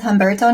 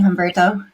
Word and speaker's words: Humberto: what we're covering today today I'm joined with homberto no of H Ranch in pontalina goaz Brazil thank you for joining me homberto thanks for having us it's nice to meet